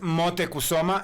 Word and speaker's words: Motecuhzoma: barras como lo pronuncia esto moctezuma así se pronuncia es motecuhzoma eso es un hombre verdadero moctezuma es una